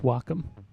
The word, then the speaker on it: Wacom: down um Wacom that's what it is it's pronounced Wacom it's w-a-c-o-m because it's like a word that